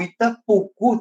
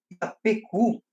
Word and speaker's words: Itapocu: para você, e também, até porque até o Itapucu também, entre as várias pronúncias do nome Itapucu, foi registrado também Itapecu, Itapicu, Itapuca.